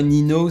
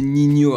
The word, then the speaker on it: Ninho: C'est comme ça qu'on le prononce, hein. C'est pas Nino, c'est Ninho apparemment, donc voilà.